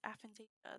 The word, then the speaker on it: aphantasia: I almost want to say alpha, but it's not. It's like aphantasia.